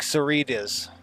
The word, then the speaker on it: Sororitas: They say it like Soritas. It's like Senorita. The H is felt.